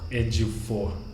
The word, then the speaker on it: Ejiofor: Chiwetel Ejiofor. Ejiofor.